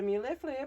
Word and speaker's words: mille-feuille: So the mille-feuille, pronounced mille-feuille, usually features 2 or 3 layers of puff pastry filled with custard cream and sliced strawberries.